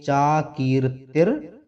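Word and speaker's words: चाकीर्तिर्: चाकीर्ति, यहाँ ये र लगा हुआ है, इसको इस तरह भी पढ़ सकते हैं। चाकीर्तिर मरणात अतिरिच्यते, इस तरह इसका उच्चारण कर सकते हैं।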